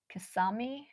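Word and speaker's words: Kissimmee: It's pronounced kiss me from what I was taught. Kasami. Whatever. I say kissing me and you guys are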